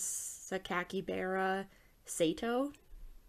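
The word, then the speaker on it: Sakakibara Seito: different word in overall it can be pronounced as sakakibara sato i guess yeah so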